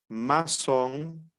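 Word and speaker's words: maçon: último la c ceville esta sedilla no existe nuestra lengua materna como el idioma español es y se pronuncia como una s Tenemos aquí la palabra garzón masón Qué significa albañil masón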